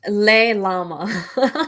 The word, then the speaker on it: Lailama: Last but not least here, the proper pronunciation of your name. So go ahead and say it just to make sure. It's Leilama.